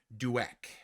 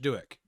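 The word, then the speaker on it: Douek: is by rich and i found out how to say this it's rich dueck rich duik and what i love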